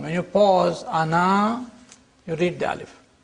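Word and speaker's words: أنا: words this means that the alif is not pronounced in continuous reading but it is to be pronounced in the pausal form when you pause ana you read the alif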